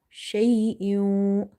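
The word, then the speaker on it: شَيْءٍ: So here we have to, as well as nasalization we have to do. Hamza, waw, to kasra, iu, shay'in, iu, wa.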